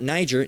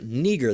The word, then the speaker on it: Niger: Um Uh Simeon, all right, his name Simeon who was called Niger, all right, not Niger, Niger. That's how that word is actually pronounced, which is dangerously close to the word that we all know, right?